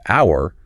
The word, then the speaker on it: hour: It is incorrect, and it's incorrect because in the word hour, the H is silent.